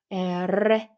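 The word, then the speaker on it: erre: 그냥 에라고 읽으면 되는데 두 개 떨 두 개가 이렇게 같이 있으면 이거는 떨어 주셔야 되기 때문에 에라고 읽어 주시면 돼요 에레 그다음에 얘는 어 영어의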